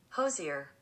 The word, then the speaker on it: Hozier: up I'm gonna look it up how to pronounce Hoser that's here you ready oh wait I can't hear it okay you ready Hozier Hozier okay I can do that all right